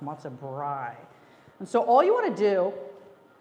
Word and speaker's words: Matzo Brei: And I want you to always remember, it's called Matzo Brei, not Matzo Brie. Sometimes people say it like it's a brie cheese. It's not. It's Matzo Brei.